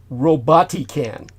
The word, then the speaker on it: Robotican: Now, this drone was jointly developed by the Israeli startup Robotican. That's spelled R-O-B-O-T, robot, I-C-A-N, Robotican.